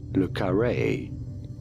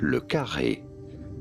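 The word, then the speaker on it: le Carré: How do you go about pronouncing it? Lukare from French. Lukare. Lukare. Lukare.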